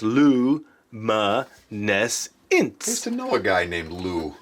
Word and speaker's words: luminescence: that glow in the dark starts with luminescence pronounced Lu MA nests into a guy named Lou yeah that's a